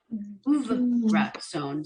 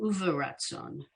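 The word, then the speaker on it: וברצון: Okay, and then it juxtaposes it with the second word on line 9, uvratson. So it's showing you kind of, depending on the orientation, the order of the letters, whether you stop for the syllable or you don't. So uvratson. Line 10, the first word is pretty straightforward, ahava.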